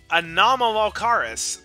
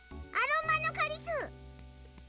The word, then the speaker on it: Anomalocaris: Even I don't know how to pronounce that! Anomalocaris, properly. It's the name of the largest animal in existence during the Cambrian period. Machina, let's see what you've got. Aromanocaris! Wrong. Try again. Anoromacaris!